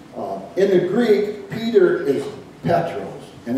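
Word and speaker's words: Πέτρος: that jesus used in the greek peter is petros and it's spelled capital p e-t-r-o-s in the in the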